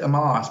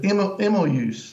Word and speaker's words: Emmaüs: We always say Emmaus, but Emmaüs. Yes.